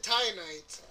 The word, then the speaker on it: Titanite: Titanite. Titanite. Titanite. That's what I'm thinking. What did he say? He said Titanite. Well, after being told by multiple characters in the game that that's how it's pronounced, I'm pretty sure.